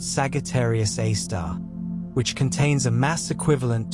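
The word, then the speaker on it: Sagittarius A*: massive black hole called Sagittarius A asterisk, pronounced Sagittarius A star, which contains a mass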